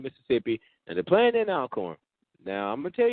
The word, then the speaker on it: Alcorn: I was told that it's Alcorn, too, not Alcorn. I've been saying Alcorn for the past 3 years, and come to find out it's pronounced Alcorn.